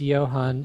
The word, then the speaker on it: Johann: Johan, is it John? How do you say the first bit? It's Johann.